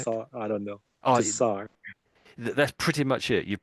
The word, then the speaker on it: Tsar: They're both pronounced basically the same, and it's Czar. It's Czar, Czar. Tsar.